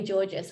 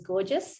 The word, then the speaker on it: Gorgis: will tie into marketing um lloyd said joey georges which is the right way to pronounce it but always i always pronounced it as gorgeous and so i called him gorgeous joey you're